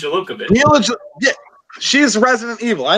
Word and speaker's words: Jovovich: It's Jovovich.